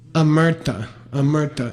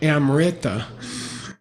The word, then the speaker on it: amrita: Amerta. If you want to mispronounce it, you can say amrita.